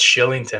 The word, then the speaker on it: Kylington: the pronunciation of uh is it kylington killington kylington uh it's shillington actually arlington wow that's a